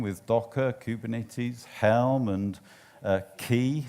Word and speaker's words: Quay: Docker, Kubernetes, Helm, and Key, some people call it Quay. I call it Key because that's how it's spelled.